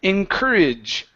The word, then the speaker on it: encourage: all right right here encourage encour so this o r e or sorry o Ur is going to be an R sound like her okay incur encourage encourage okay